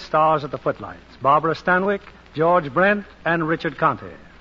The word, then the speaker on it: Stanwyck: Well, that's how they said Stanwyck in England. Oh. Stanwyck, it rhymes with Zanuck.